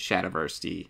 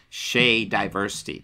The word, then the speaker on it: Shadiversity: much as I hate Shad Verity or I should pronounce his name properly because it's Shay diversity because he loves diversity that's why it's in his name um but yeah com